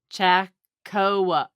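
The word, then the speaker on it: Chaokoh: c-h-a-o-k-o-h no no c-h-a-o-k-o-h cha-co no the last syllabus koh that's not koa okay yes it is koh is not koa okay so it could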